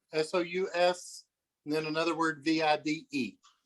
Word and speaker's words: sous vide: sous vide machine will basically it'll set the water at any temperature you want.